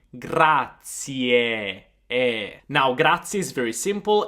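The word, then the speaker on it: grazie: It's gratier. I want to hear that final e gratier.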